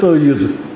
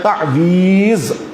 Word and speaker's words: تعویذ: تعویذ یا کشمیری کہتے ہیں تعیذ، یہ تعیذ تو یہاں کا تلفظ ہے لیکن اصل میں ہے تعویذ.